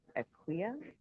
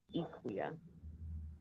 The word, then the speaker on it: Akua: And so, for example, I learned that If I was from the Ashanti region, it would be Equia, and from another region, it would be Equia. And I think there may even be some other ways of pronouncing it.